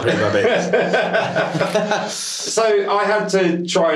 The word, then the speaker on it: Pretty-Babs: I am pronounced that right, aren't I? Yes. Or is it Babes? No, it's Pretty-Babs. Right. No, it's not Pretty-Babs.